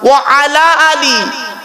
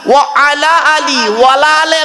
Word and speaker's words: وعلى آل: আল্লাহুম্মা সাল্লি আলা সাইয়্যিদিনা মাওলানা মুহাম্মদ ওয়া আলা আলি ওয়ালা আলে নয়, ওয়া আলা আলি। ওয়ালা আলে বললে নফির মানে হবে, নেগেটিভের মানে হবে, নাবাচকের মানে হবে, উল্টে গোনা হবে।